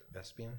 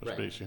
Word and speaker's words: Vespasian: Yeah, he predicted that Vespian, is that right? Yeah. Would become the emperor. You're right. Vespasian.